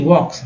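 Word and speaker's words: walk: तो ये जहांगीर एज ही वॉक्स, फिर देखिए एल के है, तो एल के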